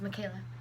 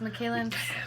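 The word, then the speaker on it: Micaela: my middle name is Michaela okay yeah it's Michaela in English and Michaela in Spanish how do you spell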